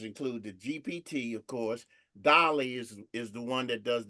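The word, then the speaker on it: DALL-E: But the bottom line is, let's look at Dolly and GPT, because Chat GPT's image maker is the Dolly aspect of it. That's spelled DALLE.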